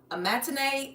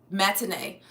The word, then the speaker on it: matinee: He's like, we're gonna a matinee movie. Is it what you call this? Matine. Matine. How do you say this? Matinee.